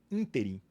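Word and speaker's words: ínterim: seja julgado nesse interim E é assim que se pronuncia pessoal interim assento no i o STF foi e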